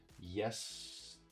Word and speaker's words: yesterday: Yesterday. And then the day gets the secondary stress, which is not as high as the primary stress, right? So when you say it, you say yesterday, not yesterday, yesterday.